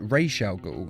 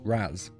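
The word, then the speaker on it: Ra's al Ghul: thought you'd be taller instantly his name is pronounced Rael go though in the liveaction DC movies and TV series he is often called Raz now am I pronouncing this right Mr Raz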